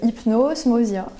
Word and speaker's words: Hypnosmosia: la fondatrice de l'association Hypnosmosia. Est-ce que je l'ai bien prononcé? Oui, c'est bien ça, c'est Hypnosmosia, c'est ça.